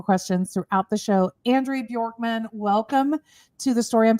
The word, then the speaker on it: Bjorkman: And thank you for pronouncing my name correctly, Andrea Bjorkman. So if you remember, and my ideal clients they remember this. Bjork, the Icelandic singer that wore the feather tutu.